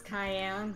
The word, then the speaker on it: Cayenne: why not you say your name is cayenne yes it is pronounced like the pepper I don't see that